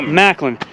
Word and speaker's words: Macklin: Yeah, just go Macklin, like Macklemore.